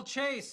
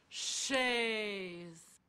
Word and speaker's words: chaise: Beautiful chase, isn't it? I believe it's pronounced chaise.